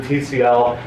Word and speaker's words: Tcl: don't even agree on how to pronounce pickle is it tickle or is it TCL it's only been in